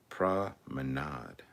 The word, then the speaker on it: promenade: the bbc proms 2001 the promenade concerts that is pronounced promenade jedi productions bloody freaking